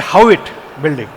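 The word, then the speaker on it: Haughwout: Okay, now you spell it as Howitt. They call it a Howitt building.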